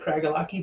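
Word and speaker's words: Craigellachie: it's written it doesn't it doesn't look like cragalaki but that's how you pronounce it The Distillery was founded in 1824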